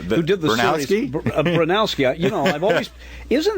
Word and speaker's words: Bronowski: I've always put the O in the wrong place in his name, and it's only when you pronounce it now that I realize that I dyslexified it.